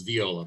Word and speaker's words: Viola: Well, my Italian relatives would tell you that the I is pronounced like an E in Italy. So it's Viola, but either way it's fine.